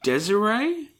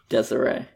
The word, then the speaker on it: Desiree: Is this pronounced Desiree? Yeah. Or Desire? Desiree.